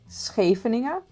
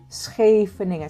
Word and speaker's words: Scheveningen: Can you pronounce Scheveningen? Scheveningen. Say it with me. Scheveningen.